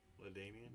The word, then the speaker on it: LaDainian: this again next week latanian ladainian yeah is that how you pronounce it yeah yep you do got a